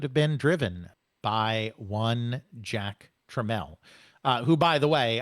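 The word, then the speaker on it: Jack Tramiel: Um, and of course that name is pronounced Jack Treml.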